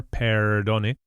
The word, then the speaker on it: perdone: So it's not a trilled R, it's not perdone, and definitely not an English R, perdone. Perdone, a single touch with the tip of the tongue.